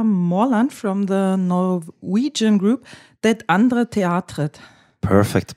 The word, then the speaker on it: Det Andre Teatret: With me is Nils Petter Mørland from the Norwegian group Det Andre Teatret. Perfect pronunciation.